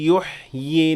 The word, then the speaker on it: يُحْيِي: قَالَ مَن يُحْيِي قَالَ مَن يُحْيِي الْعِظَامَ وَهِيَ رَمِيمٌ. So if I stopped at the word يُحْيِي, I pronounced 2 ya and the second ya had natural mad.